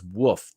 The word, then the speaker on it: WF: Spartan says with his financial gift of the diamond points over there at DLive, it says woof, the WF, woof, white unity first. He pronounces it WOOF.